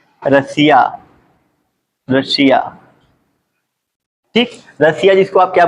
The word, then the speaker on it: Russia: ठीक है, तो रसिया में पढ़ेंगे तो एस के बाद आपको क्या IA दिख रहा है, तो यहाँ भी जो उच्चारण होगा किस में होगा, स में, बड़े स में होगा।